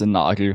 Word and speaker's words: Nagel: It's pronounced Nagel, but yeah, it's very German.